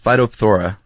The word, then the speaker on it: Phytophthora: I think there's got to be some silent letters in there. There's a lot of consonants strung together. It's Phytophthora.